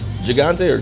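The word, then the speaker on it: Gigante: I've got Is it pronounced Gagante? This size. So they have the Robustto, the Toro. This is G I G A N T. Gagante. Gagante.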